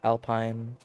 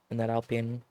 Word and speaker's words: Alpine: I mean, Pierre is doing work in that alpine. It's weird that when it's about like mountain, like the Alps, I say alpine, but the team Alpine, I pronounce it Alpine.